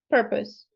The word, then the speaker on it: purpose: Purpose. Beautiful. So instead of O, Oh, it's now us.